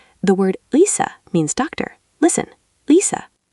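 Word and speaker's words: 의사: At the start of a word, it's ui. Try to glide from u to i quickly. The word uisa means doctor.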